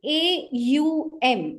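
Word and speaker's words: Aum: of chanting oh so many think that just o and m it's actually a u m so it actually has three uh syllables to it three sounds to it and you have to stretch the the next syllable more than the first one and the M the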